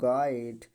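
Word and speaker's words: guide: अक्षर आया हो तो यू हमेशा क्या होता है साइलेंट होता है तो हमने बताया यू के बाद आवेला गाइड गिटार गिल्ड ठीक है बिस्केट बी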